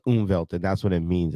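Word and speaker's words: Umwelt: There's a word, a German word called unvevelt. It says unvevelt or it it's it's pronounced unvelved and that's what it means is perceiving the world as you see it.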